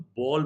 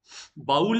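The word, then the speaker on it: bowl: सो कटोरी अथवा कटोरे को हम लोग बॉल बोलते हैं। बाउल नहीं है, दिस इज नॉट बाउल। इसका प्रोनाउंसिएशन बोल है। बोल बोलते हैं ना, बोल बचन, तो बोल है।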